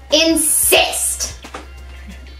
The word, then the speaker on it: Inssist: insist app insist app it is spelled i-n-s-s-i-s-t insist on the insist app